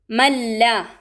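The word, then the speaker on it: مَن لَّا: മല്ല, മല്ല, ഇവിടെ നൂനിനെ ലാമുമായി ലയിപ്പിക്കണം, ഉന്നത്ത് ചെയ്യാതെ പാരായണം ചെയ്യണം.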